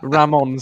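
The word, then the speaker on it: Ramón: the whole hog and just call him Raymond Ramon Sosa um obviously sign for Forest um what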